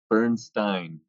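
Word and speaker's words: Berenstain: A and the E Burnstein the way that's spelled Stein that's how I remember not stain burn stain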